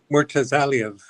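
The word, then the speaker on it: Murtazaliev: just see the size of how do you pronounce his name, James? Mortazaliev.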